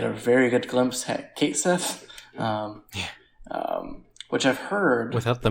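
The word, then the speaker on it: Cait Sith: Yes, I've heard that it's in the next game when he comes out, they're probably going to say it like Kate C, cat C, because that's how they say it in Japan.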